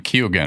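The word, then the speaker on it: Keoghan: I guess he pronounces his name Kugan.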